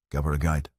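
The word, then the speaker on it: Gabh ar aghaidh: "Gab ar a guide. Go forward." Soft on the second syllable.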